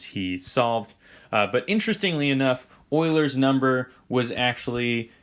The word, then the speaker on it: Euler: but that is how his last name is pronounced euler is a very prolific mathematician he is one